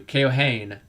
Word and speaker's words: Keohane: That's how you pronounce it. Thank you. Keohane.